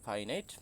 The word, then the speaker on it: finite: এবং এখানে একটা জিনিস মনে রাখতে হবে যে উচ্চারণটা হলো ফাইনাইট, নন ফাইনাইট। কেউ কিন্তু তোমরা ফিনিট ফিনিট করো, ফিনিট verb, non ফিনিট verb, the pronunciation is wrong.